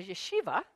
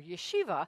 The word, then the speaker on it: yeshiva: But on Sundays, he went to, and this one I can't pronounce, a yeshiva. I was told I did pronounce that correctly, a yeshiva, which is a mainstream school.